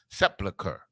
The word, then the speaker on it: sepulchre: from the his picture except how do you pronounce it i always support sepulcher okay got it now sepulcher but thou mayest bury thy dead sepulchre okay